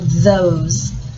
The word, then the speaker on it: those: I'm going to write the word those. That's a TH sound. O. S. And a silent E to make the O say O.